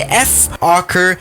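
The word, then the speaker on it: Fokker: Yes, anyway, this is the F-Ocker VFW614. Now, it's not pronounced F-Ocker normally, but it sounds like a bit of another word that I cannot really say unless I want to get demonetized.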